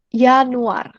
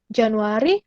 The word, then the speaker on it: Januar: Oke, Januar. Januari, Januar. Tadi J dibacanya jadi Y.